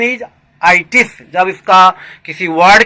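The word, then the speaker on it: -itis: एक रूट लाया हूँ ITIS, correct pronunciation इज आइटिस।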